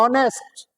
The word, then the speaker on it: honest: तो ऑनेस्ट से पहले क्या लगाओगे बेटा, तुम कहोगे कि सर एच आ रहा है, एच साइलेंट रहता है।